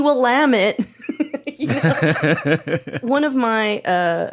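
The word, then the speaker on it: Willamette: names I'll jump in I thought it was Willam Medi for sure you know oh yeah as opposed to like why would it be will lamit you one of my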